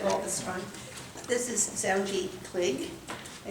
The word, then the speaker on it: Zoungy Kligge: I've been mis mispronouncing it all this time. This is Zji Clig.